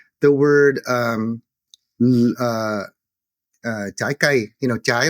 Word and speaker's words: trái: So I'll give you a simple example, like the word trái cây, trái like fruit, that was pronounced blai with a BL.